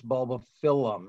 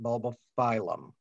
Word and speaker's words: Bulbophyllum: how to pronounce it it's two L's so it's bulb of filum not bulb philm so that'll give you